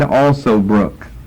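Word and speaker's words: Alsobrook: his name is David also Brooke David also Brooke his last name is spelled just like it sounds to words a compound word also book David also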